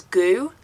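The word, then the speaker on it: Gü: It's spelled GU, and yeah, they're Goo, they make desserts and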